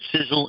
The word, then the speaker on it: SISEL: of sizzles Millionaire's Club syphilis spelled Si SEL and those letters stand